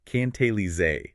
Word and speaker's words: cantilever: And for anyone taking notes, that is pronounced cantilever.